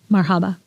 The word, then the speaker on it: marhaba: Marhaba.